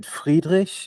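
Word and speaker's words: Friedrich: Is it is it freedish? Is it like the typical German Frederick?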